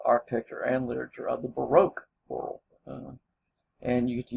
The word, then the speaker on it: baroque: about the baroque or as the narrator talks he calls it the barack he's british so he pronounces it that way we generally say baroque um if you look